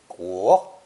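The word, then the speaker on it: 国: Only later was huo given clearly drawn boundaries to create the character for country, pronounced guo, with huo supplying both the meaning and the pronunciation clue.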